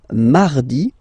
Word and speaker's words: mardi: Then mardi, mardi. So you can hear that you don't pronounce it that strongly, this R.